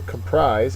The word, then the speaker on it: comprise: making a cake so comprise is a verb the second syllable is accented it means to be